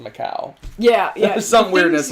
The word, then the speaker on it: Macau: got a new argument whether or not how you pronounce it the stuff - because I had the little thingy on the sea but apparently it is Macau we looked all this